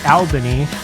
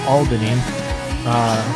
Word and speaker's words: Albany: was staying which I've been told is not pronounced Alvin II 115 times I said Alvin II and I made New Yorkers everywhere cringe no it's Albany you have to say Albany it's Albany okay